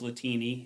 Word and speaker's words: Latini: So, my last name is Latini. It rhymes with the martini.